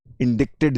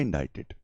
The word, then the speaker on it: indicted: Indicted को spelling करते हैं DICTED, इंडिक्टेड जिसको कहेंगे, इसका प्रोनाउंसिएशन होता है इंडाइटेड, मतलब कि उसके ऊपर लांछन लगाया हमने.